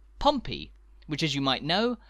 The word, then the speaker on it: Pompey: typically abbreviated as po stop m p stop pronounced Pompey which as you might know is the nickname